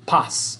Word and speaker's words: paz: Z or zeta, Z, es pronunciado S en español, right? Every time you see a Z word. So like zapato, zona, paz, incorrecto. It's pronounced zapato, zona, paz, luz, rezar, zoológico. Those all have S sounds to it.